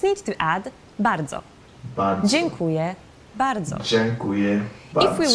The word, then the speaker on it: dziękuję: So the pronunciation of that E with the curve underneath is on. Like dziękuję. Wait, hold on. Let me say that one more time. dziękuję means Dzień. So it's like an N sound.